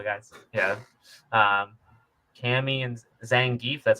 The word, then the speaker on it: Zangief: Yeah, um, Cammy and Zangief.